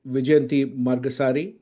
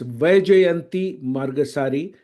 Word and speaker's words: Vijayanti Margassery: a very dear friend vijan margasari actually I mispronounced that she's corrected me before it is V jayanti margasari popularly known as